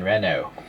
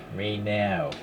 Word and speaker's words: Renault: or can say Alpine Rena no I think Renault is actually the pronounce proper pronunciation Reno French okay sorry it's been